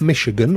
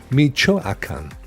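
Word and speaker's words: Michoacán: um my home state this is primo is pronounced so not not Michigan or Michigan Michoacan brilliant thank you Primo have you ever done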